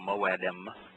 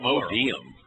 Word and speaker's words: moedim: So moedim would be. No, they write modium. They do. Yeah. I've seen them write it. Modium. Yeah. Well, that wouldn't be the proper Hebrew pronunciation because all the ym does is make the moed plural, and you know, you